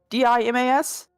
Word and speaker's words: Dimas: I said deemos. D I M A S. Spell it. D I M A S. How do you say it, Grant? Just tell me how you say it. Dimas. It's an a. It's not. You say deos.